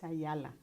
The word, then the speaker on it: Ayala: So my name is Cecilia Gonzalez, and I'm interviewing Ayala for the Voces Oral History Project in Brownsville, Texas. Okay, it's Ayala.